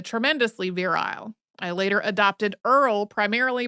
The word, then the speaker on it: Earl: virile I later adopted Earl primarily because it rhymes with girl the creature of Enchantment